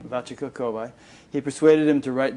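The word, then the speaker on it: Vachaka Kovai: Guru pronounce it please? Vachika Kovai. Vachika Kovai.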